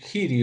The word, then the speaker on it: Giri: Ahora, si uno hace una comparación, por ejemplo, hay un jugador joven todavía, Anish Giri o Giri, ¿no? Como se pronuncia de las dos formas dependiendo.